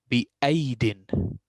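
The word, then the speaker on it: بأييد: I do not pronounce this yeah because there is a circle on it.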